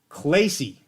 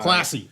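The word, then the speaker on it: Klassy: director of Athletics Garrett clayy so we're it was a fantastic interview it was great I loved every minute of it he was a great guy classy I said it wrong it's classy yes he he's keeping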